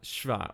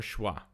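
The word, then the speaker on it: שווא: Next we have Shva or Shwa. The Shva is pronounced in the biblical pronunciation and E in the modern pronunciation.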